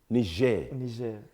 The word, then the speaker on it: Niger: Niger. Hey. That is the pronunciation needs to be on point. Français. moi, je m'appelle Monsieur. Je parle un peu français. So it's pour Niger.